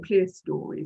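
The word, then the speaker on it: clerestory: go um which is called the clester or clear story some people pronounce it like that the clester lights to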